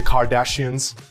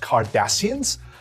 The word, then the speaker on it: Cardassians: futuristic lingo the Balkans the Kardashians are you serious it's pronounced cardassians no wonder my friends don't want to watch the show I've been pronouncing it wrong all this time anyway the point is